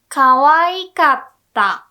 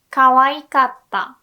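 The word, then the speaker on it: かわいかった: say it was cute kawaii should become kawaii kappa kawaii kappa okay don't say cover kappa o kappa e kappa it's wrong kawaii kappa it was kid and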